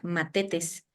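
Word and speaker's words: μαθητής: de un de una palabra griega que se pronuncia matetes de la misma de donde deriva mártir y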